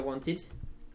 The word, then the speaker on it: wanted: Entonces want sería wanted, wanted. La terminación y pronunciación es id, por si acaso, si alguien se pregunta.